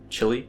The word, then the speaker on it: Chile: Darkshore reminds me of Chile, or Chile? Chile? Chile? I don't know. I would pronounce it Chile as an American, but I think it's more Chile, the country in South America.